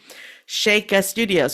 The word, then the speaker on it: Shaka Studios: So we put our names together and we came up with Shaka Studios for the name of our company. Shaka Studios. Well, it's spelled Shaka. So the next 15 years, we had to correct people.